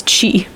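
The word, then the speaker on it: ch'i: I don't know the answer the answer is Chi Oh cheat I wait I wonder if that's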